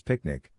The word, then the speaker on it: PQNK: PQNK PQNK to be pronounced as picnic which stands for Peter Trini Zamashadakiari and means the regenerative and sustainable pristine organic farming system.